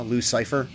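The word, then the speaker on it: Loucyfer: stream a while back commenting on how it's spelled like a dude's name l o u c y f e r so it's like uh the antagonist from PD wheatstraw devil's son-in-law Luc Cipher um regardless of any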